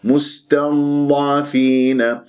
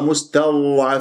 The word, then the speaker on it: مستضعفين: بالمرايه اذا اذا اذا مستضعفين والبعض يقراه مستوعب في هذا خطا والبعض يقلقل اضداد الساكنه